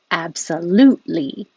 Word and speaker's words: absolutely: syllable so cafe latte absolutely you don't release that t your tongue goes to the t position absolute and it's the same as the l position so you just hold it there absolutely absolutely alternative we